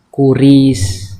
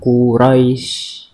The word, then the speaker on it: Quraisy: Nah ini harusnya kan kuris, tetapi di sini bacanya Quraisy. Atau robba hadzal baiti, harusnya kan biti tapi dibacanya baiti.